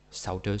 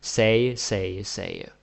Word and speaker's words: sagde: Saude, sagte, many ways to get it wrong. Say.